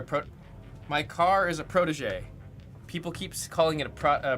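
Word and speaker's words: Protegé: like, "Oh, it's a protege. It's a protege. It's a protege." Okay. And then anyone that's never seen the car before, they'll just read it as a prodigy.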